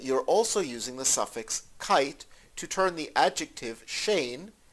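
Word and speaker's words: קייט: It is spelled as if it were pronounced Kate, but in almost all of the Yiddish dialects, it is pronounced kite.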